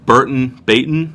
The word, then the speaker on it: Burton Baton: Dogfish Head's Burton Baton, I believe is how it's pronounced.